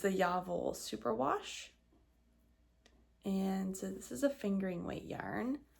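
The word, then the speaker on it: Jawoll: So I'm using the Lang yarns, and how you pronounce this is actually Yavol, but people say Jav or Yawol, but it's actually Yavol because it's German, and W's are always V's, and I did look it up.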